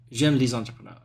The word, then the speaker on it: entrepreneurs: the I like the entrepreneur exactly can you say one more time entrepreneur the S is silent at the end we don't pronounce them now oh okay exactly